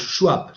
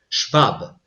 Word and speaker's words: Schwab: propio libro de klaus schwab o klaus schab si lo pronuncio a la inglesa Aunque su nombre es klaus schwab stakeholder capitalism no es